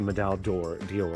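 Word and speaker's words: Médaille d'Or: this is a Medal, I'm not going to say it in the French pronunciation, a Medal d'Or, it's what the American pronunciation is.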